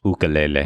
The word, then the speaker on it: ukulele: accompanied by Craig on his ukulele. Yeah. Singing Uptown. It's pronounced ukulele.